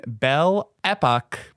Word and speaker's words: Belle Époque: Club, where American women artists found refuge in Belle Époque Paris. I cannot pronounce anything in French, but I'm sure Jennifer can.